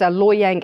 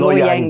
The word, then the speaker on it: Loy Yang: and then the other two, I can never pronounce them. Yes, one is Loy Yang A and the other is Loy Yang B.